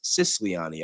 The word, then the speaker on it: Sisani: ADN, Brandy Sicilian, Sisani, I always say her name wrong. I was thinking about that the other day when I when I did the interview with her and when I was promoting it. It's Sisani.